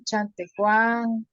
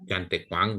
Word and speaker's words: Chantecuang: Yes, there are some Chantecuan. No. Chantecuang. That's the name.